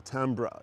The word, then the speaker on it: timbre: Timbre is French in origin, which apparently in its pronunciation it's often pronounced timber. Okay. And more with a French influence second syllable, tembra.